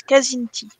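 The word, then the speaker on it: Kzinti: desinti K Z I N T I en français ils disent Kazinti Kazinti ça fait presque moins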